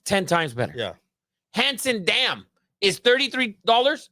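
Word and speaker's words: Hansen: It's handsome, damn. It's not handsome. It's fucking Hanson.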